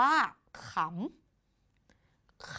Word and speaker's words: ขำ: คำ ต่อ ไป ค่ะ คำ นี้ อ่าน ว่า ขำ ขำ ขำ เกิด จาก ข อำ ขอ อำขำ ขอ คือ ขอ ไข่ ซึ่ง